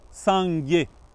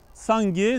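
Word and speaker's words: སངས་རྒྱས: bouddha ça veut dire on dit sanghé sangué les deux syllabes ça fait référence à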